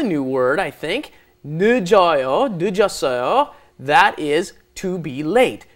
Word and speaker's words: 늦다: Notice, when it comes up against another consonant, mm-hmm. it doesn't get fully pronounced, right? 늦다, because it came up against another consonant, but then when it's conjugated, it comes up against a vowel. The zero plus a vowel makes it 늦었어요.